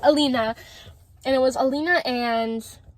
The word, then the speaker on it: Alina: And one of them was Alana, I'm sorry, I really don't know how to pronounce her name sometimes. Alina, there we go, Alina.